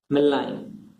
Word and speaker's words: malign: And this is pronounced as malign.